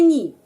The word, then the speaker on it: не: Не itu tidak. Pengucapannya ni.